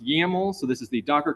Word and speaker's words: YAML: This is pronounced YAML, so this is the Docker Compose.yaml file that we are editing.